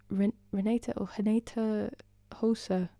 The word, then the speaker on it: Renata Rosa: Renata Hosa, or it's spelled Renata Rosa, and she was amazing.